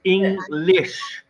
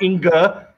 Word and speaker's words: English: I hear you say like English, but English. Say it again. English. English. No, not inger.